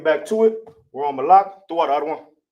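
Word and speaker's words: מלך: We're on Malak. Throw out the other one. All right. Malak in the Hebrew is Ma.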